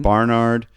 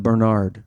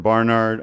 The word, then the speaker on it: Barnard: They're from Barnard. And we were talking about all the I would pronounce that Bernard. Yeah, so you do have a problem, right? So they're from Barnard on the Columbia campus there.